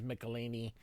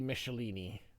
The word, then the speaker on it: Michelinie: I know Todd McFarlane says Michelinie, but it really should be Michelinie, like Michelin tires.